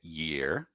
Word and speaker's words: year: orelhas dois problemas aí primeira pronúncia do ir né que é Year tem um sonzinho de uma consoante ali no começo e o segundo para